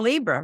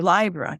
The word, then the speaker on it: Libra: life so what about Libra or Libra depending how you pronounce it Venus is the